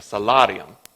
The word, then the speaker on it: salarium: And they called that salt stipend a salarium. Now, that pronunciation was spot on, for those of you who are wondering. But you Texans would probably pronounce it salarium.